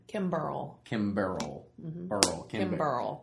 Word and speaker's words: Kimberl: Kimberl. Kimberl. Mm-hmm. Kimberl. Like a barrel of bourbon, but Kim in front of it, right?